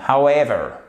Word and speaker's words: however: qui signifie qu'en fait, c'est un accent tonique secondaire. Donc, il y a tout de même une petite impulsion au démarrage, si je puis dire, mais on a la vraie impulsion sur la seconde syllabe.